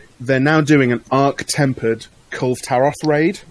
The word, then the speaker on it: Kulve Taroth: Called Kulv Taroth. Right. Which I only learned today. I've been pronouncing wrong since it was released. Well, how are you been pronouncing it? I've been pronouncing it as Kulve Taroth.